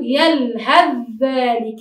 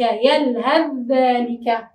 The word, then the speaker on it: يلهث ذلك: كيف ننطقها؟ نتجاهل حرف الثاء أو لا نتجاهله، وإنما ندخله إدخالا كاملا في حرف الذال فنقول يلهث ذلك، يلهث ذلك.